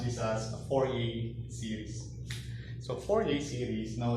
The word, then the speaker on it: Fourier: Okay, you pronounce this as a Fourier series.